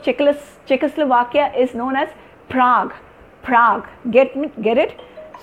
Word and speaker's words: Prague: a plural and even I've heard people say prabhu no it's not cease check Czechoslovakia the the capital of Chiklis Czechoslovakia is known as Prague Prague get me get it so since these